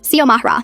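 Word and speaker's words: Xiomara: X I O M A R A. I get that it looks intimidating at first, but it's not rocket science. Sio Mahra.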